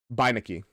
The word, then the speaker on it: Beineke: Also, it's pronounced Beinekes.